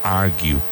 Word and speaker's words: argue: Discutir, discutir, to argue, argue. That U sound at the end, to argue.